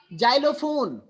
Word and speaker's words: xylophone: a vowel after X, if there is a vowel letter after the X, then you have to pronounce as za. Just like xenophobia, xenophobia, xylophone.